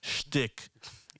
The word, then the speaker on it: shtick: I can't say it right. Shtick. It's with a sh.